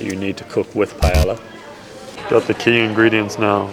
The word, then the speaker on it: paella: Today we are making paella. How is that again? P. Absolutely. One more time. It's pronounced like paella.